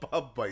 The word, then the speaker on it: Bumbu: Listen, I'm saying bumbu. How's it spelled? B-U-M-B-U. Bumbu. It's wrong.